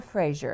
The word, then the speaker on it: Frazier: Say it the way you would say it in your country. and then the Frazier, because that's just the American pronunciation.